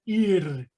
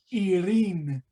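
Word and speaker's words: עיר: hay estas letras, pero si lo vamos a pronunciar es la letra I, la letra Y y la letra R, ir, en singular, y en plural, irin.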